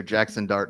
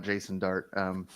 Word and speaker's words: Jackson Dart: Jackson Dart, not Jason Dart.